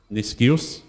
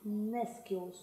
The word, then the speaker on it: nescius: Niscius. So it meant not knowing, ignorant. Actually, it's Nescius. Nescius.